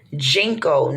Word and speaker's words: ginkgo: okay but you put jengkol now it could be said different it's it's spelled g-i-n-k and it's a leaf